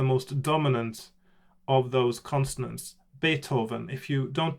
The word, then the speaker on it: Beethoven: it sounds like so beethoven beethoven is the closest to what it sounds like because you don't want to add any extra more extra syllables for the th combination in the middle beethoven so important little thing